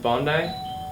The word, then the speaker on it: Bondi: Um and uh how do you pronounce it? Bondi. Yeah, Bondi Beach.